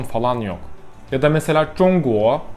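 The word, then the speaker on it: 中国: Ya da mesela Zhongguo, Zhong birinci ton, Guo ikinci ton, yükselen ton.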